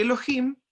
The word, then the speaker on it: Elohim: cielos y la tierra la palabra que se pronuncia en el hebreo para describir dios se dice elogio y elohim se traduce una pluralidad de dioses y como